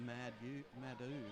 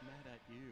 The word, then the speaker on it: Mad At You: I was calling it Madu, but it's Mad At You, isn't it? Yes, it is.